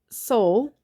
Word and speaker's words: sol: look at the pitch soul and the word soul is spelled s-o-l and the dot numbers are one